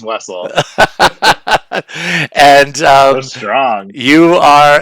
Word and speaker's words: Wessel: I like that German pronunciation, but it's just Wessel.